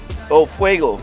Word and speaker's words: Fuego: Fuego. Fuego. Yeah, Fuego. Fuego. Yeah. Like it's got a W on it.